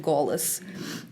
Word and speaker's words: голос: For example, there is a word glas that means voice, but in modern Russian you would pronounce it голос.